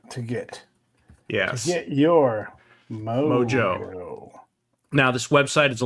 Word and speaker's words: MMOJO: M OJ O. By the way, it's just pronounced Mojo, but you know what?